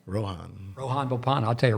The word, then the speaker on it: Rohan: Rohan.